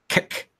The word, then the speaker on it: Kek: My name is Kek, with a sharply pronounced K at the beginning. Kek.